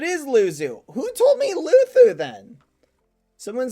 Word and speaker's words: Luzu: In that giving Luzu is pronounced Luthu.